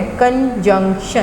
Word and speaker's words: conjunction: यानी एक कंजंक्शन जो है, कंजंक्शन, क्या प्रोनाउंसिएशन है इसकी? कंजंक्शन। क्या प्रोनाउंसिएशन है? कंजंक्शन। JUNC, जंक, और TION जिस भी लफ्ज़ के साथ लगता है वो शन की आवाज़ देता है, कंजंक्शन।